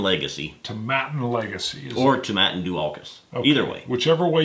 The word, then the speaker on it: Dualchas: I always say Dualkus, but it's Dualkus.